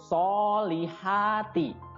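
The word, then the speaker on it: الصالحات: sound ya Wa amilus alif lam nya tidak dibaca jadi langsung masuk ke huruf shod ya Wa amilus sholihati soalnya panjang dua harokat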